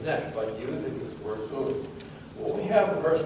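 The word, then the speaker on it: οὖν: The word in Greek is pronounced un, un.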